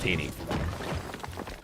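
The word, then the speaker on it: T3ENY: It's T3 ENY, but it's pronounced Tiny.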